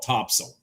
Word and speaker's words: Topsail: It's, now, for those of you that don't live around here, it's Topsail, all one word, but they call it Topsail. Locals call it Topsail Island.